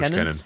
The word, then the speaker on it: Kennan: Moving on then to the actual conference, one of the first speakers was Kennan. Am I pronouncing that right, Jackson? Yeah. George Kennan.